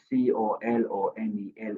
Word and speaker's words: colonel: So, the the the words the the words um C O L O N E L is not pronounced colonel as incorrect.